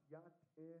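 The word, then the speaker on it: Yá'át'ééh: But it's pronounced Yat-eh.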